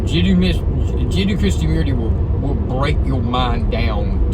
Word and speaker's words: Jiddu Krishnamurti: If you ever get a chance, Jiddu, Jiddu Krishnamurti, and it sounds just like it's spelled.